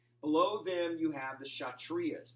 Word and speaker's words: Kshatriyas: them you have the shot Ria's the K is silent shot Ria's are warriors